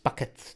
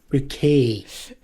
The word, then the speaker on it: Bucket: Bucket to your house next. What? It's pronounced Bucket. Bouquet.